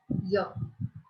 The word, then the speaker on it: year: The word is beginning with Y. But I have written and before that. Why? Because it begins with the vowel sound E. Here. Right? Here Y is silent.